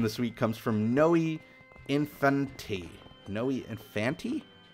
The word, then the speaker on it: Infanti: Okay, our last question this week comes from Noe Infanti. Noe Infanti? It's like kind of like infinity, but it's not spelled like infinity.